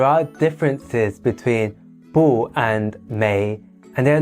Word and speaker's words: 没: beautiful however there are differences between boo and Mei and they're not often used interchangeably so let's